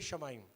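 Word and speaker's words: השמים: है शमाइम।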